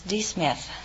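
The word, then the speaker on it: D'Smith: I see Miss Smith is that right uh my name is not Smith it's D Smith oh it's D Smith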